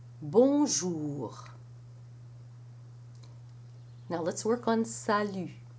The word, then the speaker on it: salut: In the first syllable, you have a sa, which may sound to you like the sa in sat, but it's more open. The a sound in English, as in sat, does not exist in French.